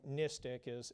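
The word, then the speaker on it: NSTTC: And when we talk about NISTIC is how we pronounce the acronym.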